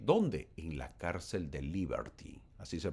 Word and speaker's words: Liberty: En la cárcel de Liberty. Así se pronuncia, o la cárcel de Libertad.